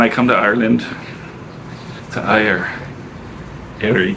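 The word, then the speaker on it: Éire: When I come to Ireland, to Erie. How do you pronounce it? Erie? Ayr.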